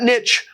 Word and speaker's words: niche: wide open and yes that is not only a correct English pronunciation of the word Niche it was the only pronunciation of the word in English and recently when people decided to French it up and in the same